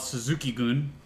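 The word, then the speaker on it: Suzuki-gun: caught it is called Suzuki goon that was funny I'm not sure what that means but it's spelled like gun Zuki gun but anyway it was zukie taka and zac saber jr.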